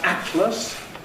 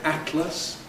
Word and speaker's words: Atlas: Atlas where you have a T and an L. Again many people use a glottle stop. So where I would say Atlas you'll also hear people say Atlas. Some people say Scotland others say Scotland. Do whichever you like. You can have both lateral release and glottle stop if you like and say atlas Scotland.